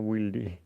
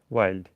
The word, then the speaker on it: Wilde: লোকটার উচ্চারণ কি ওয়াইল্ড না উইল্ডি? ওয়াইল্ড।